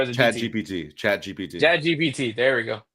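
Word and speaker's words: ChatGPT: I think I asked Chat BT. I don't know how to pronounce that. I'm old. I think it's Chat PT, right? Chat PT, is it, or is it Chat BT? GPT. Chat GPT.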